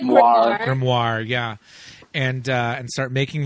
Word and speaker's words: grimoire: How do you pronounce that word? I said grimoire.